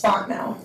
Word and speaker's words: Fontenot: Said it wrong twice, tell me how to say it. You're close, it's Fontenot.